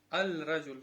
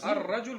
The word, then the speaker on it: الرجل: Потому что у шамсия ар-раджуль говоришь же, не аль-раджуль.